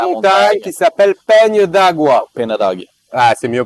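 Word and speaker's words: Penha d'Águia: Peña d'Agua. Ah, c'est mieux prononcé, bien évidemment, de ta part.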